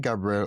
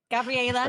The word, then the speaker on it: Gabrielle: Is it Gabrielle or So it's Gabriel, Oh, because I was